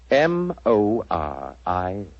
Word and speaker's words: Moriarty: People will either misspell it or mispronounce it. I'm afraid I'll have to begin calling it the way it looks. M-O-R-I-A-R-T-Y.